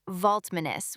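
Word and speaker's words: Valtmanis: The other co-founder's last name is Vault Manis spelled V A L T M A N I S and it's usually pronounced like Vminus with the stress in the middle.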